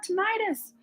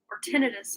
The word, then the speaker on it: tinnitus: I think I have tinnitus tinnitus I've heard it pronounced both ways but yeah a lot